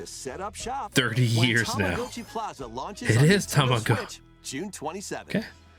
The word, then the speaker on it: Tamagotchi: It is Tamagotchi.